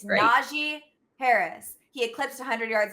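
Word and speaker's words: Najee: that we're excited about naji by the way uh announcers that's how you pronounce his name i'm like nazi naji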